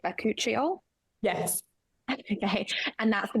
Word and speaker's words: bakuchiol: also have the am I saying it right bakuchiol yes okay and that's the one with similar